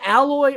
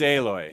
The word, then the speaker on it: Aloy: haven't played aloy aloi it's not alloy or it's alloy it's aloy it's a heart a